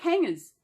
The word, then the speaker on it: hanger: We say hangers as if there's no G in there. Hanger. It's there, but we don't. I don't know. Mate, I've never heard anyone in Australia really pronounce their G's on hanger.